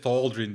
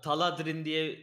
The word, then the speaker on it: Thaldrin: Nasıl okunuyor tam olarak bilmiyorum. Bence Thaldrin diye okunması lazım ama. Evet, öyle okunuyor. Bütün yabancılar da öyle söylüyor ama benim için dert değil. Thaldrin. Genelde bana Taladrin diyen bile duydum ben. O yüzden benim için dert değil abi.